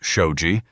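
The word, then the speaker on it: shoji: Traditional Japanese homes used sliding shoe panels, pronounced shouji, to reconfigure which openings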